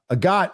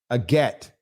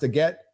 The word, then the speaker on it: agate: debunk the debunk uh a God is pronounced a get well how am I supposed to know it says agat and I'm uneducated and